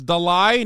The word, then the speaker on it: Dalai: the it's Dolly it's Dalai not Dolly stop am I saying